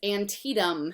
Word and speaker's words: Antietam: Everybody always looks at that word. They're not quite sure how to say it. It's Antietam, okay?